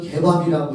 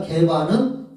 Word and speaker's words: 게바: 또 5절 게바에게 보이시고, 이 게바가 뭐냐? 잘못 읽으면 개밥이라고 읽어요. 개밥이 아니라 게바는 베드로란 뜻입니다. 게바, 베드로에게도 부활한 걸 보이시고